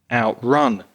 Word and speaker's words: outrun: Yes, I noticed that the verbs stress the second syllable, outrun, outlive, whereas the nouns stress the the first syllable, outbreak, outburst.